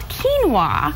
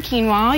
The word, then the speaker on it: quinoa: So a lot of people have not heard of this grain called quinoa. Quinoa. Spelled with a Q.